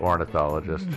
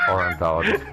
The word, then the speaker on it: ornithologist: hilarious that's good I that's pronounced ornithologist you say orthologist oh what you do